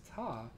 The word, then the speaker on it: Tau: telling my students, like, I think the pronunciation is Ta. And they were like, no, it's Tau. And we looked it up and it's both.